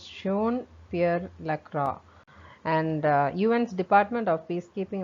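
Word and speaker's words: Jean-Pierre Lacroix: is sean uh it's john uh lacroix and the sorry i think i am spelling the uh pronouncing the wrong correctly incorrectly uh i think it is uh pronounced as shown pierre lacroix and un's department of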